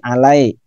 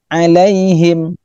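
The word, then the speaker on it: عليهم: Nah, kekeliruan sering kita jumpai alai ya. Tapi yang benar adalah alaihim.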